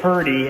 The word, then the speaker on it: Purdy: And when I say Purdy, I'm not saying pretty in West Virginia terms. I'm saying Purdy, that's how you spell it, see?